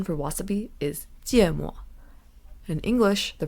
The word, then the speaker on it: 芥末: So in Chinese, the pronunciation for wasabi is 芥末. In English, the pronunciation is wasabi.